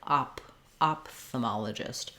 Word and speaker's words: ophthalmologist: Then the alternative pronunciation, and the one that I typically use, has the PH, letters PH saying the P sound. That's the same as ophthalmologist, it just sounds like ophthalmologist.